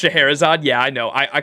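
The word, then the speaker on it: Scheherazade: leave please excuse me it's pronounced shaherazade yeah I know I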